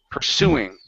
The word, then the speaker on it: pursuing: okay right here pursuing the stress is on the end pursuing pursuing pursuing the idea